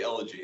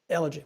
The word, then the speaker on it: Elegy: us pronounce that title i was debating whether or not i was going to have a hard g or a soft g on that one how was it pronounced hillbilly elegy that's right elegy right on nice to